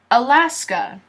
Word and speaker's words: Alaska: sky aah laughs sky a la sky Alaska Alaska Alaska Alaska California this